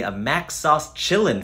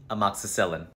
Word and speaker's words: amoxicillin: my dentist gave me a Mac sauce chilling for my tooth a Mac sauce was it for an infection yeah amoxicillin a Mac sauce Chillin